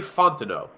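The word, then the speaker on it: Fontenot: looked it up uh I'm assuming the second T in his last name is uh silent so Terry Fontano I believe is how you say it uh do you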